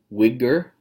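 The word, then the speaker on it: Uyghur: poems some the name to pronounce name it's pronounced Widger we hear these are Chinese people I've got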